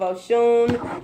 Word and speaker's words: Osun: For personal readings, please book with the House of Oshun. It does not have an H in the, there isn't an H in the, in Oshun. It's spelled Osun.